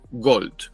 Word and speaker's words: Gault: las francés puedes ver se pronuncia Go Aunque hay un a un u un l un t Entonces no hay O